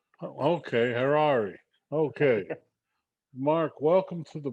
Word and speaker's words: Harari: pronouncing it correctly yep just rhymes with ferrari okay herrari okay mark welcome to